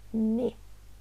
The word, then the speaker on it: ne: Pronto, essa também é interessante e preste atenção na pronúncia, porque isso daqui que está escrito aqui em italiano não é né, mas é ne.